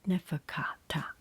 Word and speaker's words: Neferkaptah: Pronounce it Neferkata because psychology, PS, we pronounce psychology without the P sound.